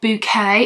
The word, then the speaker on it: Bucket: Bucket or Bouquet. It's spelled B-U-C-K-E-T, so it is spelled as bucket, but she says bouquet.